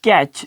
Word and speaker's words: catch: अब कैच CATCH, और यहाँ फिर जो है ना कैच में टी के बाद CH आया हुआ है तो हम इसको प्रोनाउंस नहीं करेंगे।